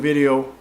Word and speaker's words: video: subject of this video... Video, ha ... viDEo (pronounced correctly) is, "I still 'stay busy' with Esperanto" And I do indeed stay busy with Esperanto every day.